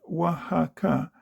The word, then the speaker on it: Oaxaca: Oaxaca, you pronounce it Oaxaca, is a little town, about 30,000, in a wide valley with mountains round, lonely and a bit lost.